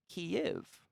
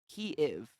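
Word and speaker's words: Kyiv: my voice bad accent key if if i put another little space in there but it's not supposed to have it that is the proper ukrainian pronunciation of kiev and by pronouncing it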